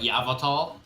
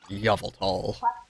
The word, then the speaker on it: Yveltal: Just like Yavatal. Yveltal. No, it's incorrect.